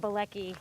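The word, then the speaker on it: Bielecki: Blei. So it's Blei. And how do you spell it?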